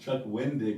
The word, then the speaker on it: Wendig: And everyone that watches keeps on complaining and keeps on telling them it's pronounced Chuck Wendig, not Chuck Winding. It just sounds like he's saying Chuck Winding.